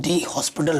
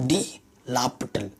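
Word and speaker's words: L'Hôpital: में क्या बोलते हैं, डी हॉस्पिटल रूल, लेकिन लिखते भी वैसे ही डी हॉस्पिटल रूल, लेकिन जो प्रोनाउंसिएशन होता है वो तो डी लापिटल, ये प्रोनाउंसिएशन है उसकी, डी लापिटल रूल, ठीक है।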